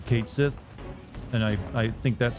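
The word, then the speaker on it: Cait Sith: Japanese pronounce it or that's how the Scottish pronounce it for wor because it's a origin name way you said it is correct cat Sith or Kat Sith I mean I'm glad I got one of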